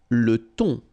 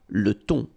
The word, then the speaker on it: thon: Le thon. Remember, H here is not pronounced. Le thon.